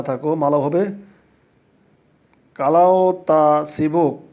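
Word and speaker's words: kalau tak sibuk: যদি ব্যস্ত না থাকো, মালাউ হবে কালাও তা সিবুক, কালাও তা সিবুক। এখানে কালাও তাক সিবুক হবে, কিন্তু যখন আমরা উচ্চারণ করব তখন ইংলিশ শব্দের কেটা আমরা বাদ দিব।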